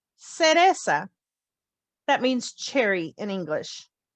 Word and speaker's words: cereza: If the letter C is followed with an E or an I, it sounds like S. The word to remember is cereza.